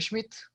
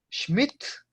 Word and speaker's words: Schmidt: ¿Es usted el señor Schmidt? Sind Sie Herr Schmidt? Nein. Ich, ya sabemos, ¿cierto? Bin, primera persona del singular. Ich bin Herr Schmidt. Schmidt, Schmidt, Schmidt, con T al final, Schmidt.